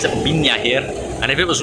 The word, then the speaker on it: Viña: And I say pina, even though it's written as v i n a, they pronounce it as vignya here.